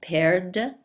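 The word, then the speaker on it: perdent: d n t and this last one is pronounced paired whereas the whole singular side is pronounced pair just like a fruit that you eat like a pair so this air two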